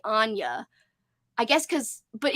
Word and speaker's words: Ania: Yeah, Amy says she says it like Anya because that's the way the audiobook pronounces it.